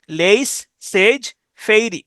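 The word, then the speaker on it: laissez-faire: ইজেড সেইজ এফ এ আই আর ইফেইরে ফেই উচ্চারণ করতে পারেন লেস সেজ সেজ ফেইরি লেস সেজ ফেইরি অবাদ বাণিজ্য নীতি লেস সেজ ফেইরি এরপর আসেন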